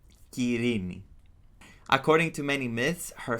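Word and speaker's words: Κυρήνη: You're gonna call her Kirini. That's how you can pronounce her name in Greek. Kirini.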